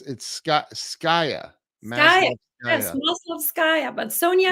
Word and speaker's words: Maslovskaya: My name is hard to pronounce. It is Maslovskaya.